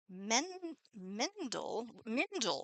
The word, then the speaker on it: Mindle: Marianne sent us Mindle, which rhymes with Kindle.